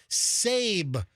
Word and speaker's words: Sab: listener created morons in the news jingle and it comes courtesy of this dude sab rhymes with gabe he clarified in the